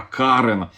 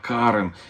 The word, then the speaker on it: Карен: Мне сделали замечание, это не армянское имя Карен, а Карен, ударение на А, Карен.